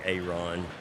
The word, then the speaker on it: Aron: was spelled differently so I'm make sure I'm pronouncing it right it's it's Aaron my grandmother calls me Aon Aon or Aon okay um my mother calls